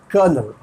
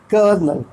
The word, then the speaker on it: colonel: d e z p o u s absolutely pronunciation ron davu psyche related to mind soul brain fifth word c-o-l-o-n-e-l kernel kernel kernel a rank and army officer above a brigadier